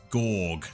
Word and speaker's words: Goug: So, as you can see, we need to make our way west towards Gorg. That is indeed how you pronounce it.